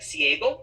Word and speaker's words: ciego: CI is pronounced C, like ciego, the word for blind, or cena, the word for dinner.